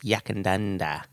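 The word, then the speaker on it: Yackandandah: How do you pronounce it? Yakandanda.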